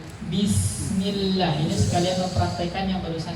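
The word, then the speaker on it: بسم الله: Kalau misalkan kasrah, pengucapannya rahangnya turun. Bismillah.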